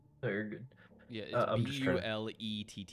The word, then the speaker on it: Blette: or I think I think that's what it's pronounced like no you're good yeah b l e tte e oh okay okay and I'm ballet yep